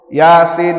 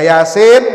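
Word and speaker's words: يس: Mim itu cara bacanya baca Yasin bukan Yas Nah itu apa ni Yas enggak ada Yas ya baca HAM mim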